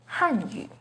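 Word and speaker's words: 汉语: The pinyin and tone for Hanyu is with the 4th falling tone on Han, Hanyu. The pinyin and tone for Hanyu has a 2nd rising tone on Han, Hanyu.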